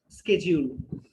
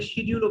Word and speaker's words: schedule: 15 minutes ahead of স্কেডিউল। আমরা আশা করছি যে আমাদের নির্ধারিত সময়ের 15 মিনিট আগেই আমরা ব্যাংককে ল্যান্ড করব। এটা শুদ্ধ উচ্চারণ হচ্ছে স্কেডিউল, তবে শিডিউলও বলা যায়।